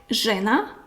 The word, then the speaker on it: žena: So ž is tongue up, ž like žena, žena is a woman, ž žena, tongue up, žena, and this is š like šuma, forest or wood, šuma, I will write it.